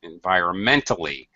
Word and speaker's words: environmentally: syllable gets the stress environmentally all right fourth syllable stress fine hmm notice the